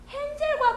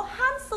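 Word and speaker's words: Hansel: 헨젤과 그레텔은 영어로 한스 앤 그레텔이에요. 그러면 할 때 헨젤 says 그럼 그거는 콩글리시예요. 우리도 모르는 사이에 콩글리시가 되는 거야. 한스 앤 그레텔 같은 경우에 그리고 알리바바와 40인의 도둑 알리바바입니다.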